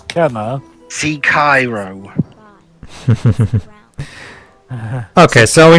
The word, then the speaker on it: Kena: yeah for some reason a lot of people pronounce this as kina even though it is kenna see cairo okay so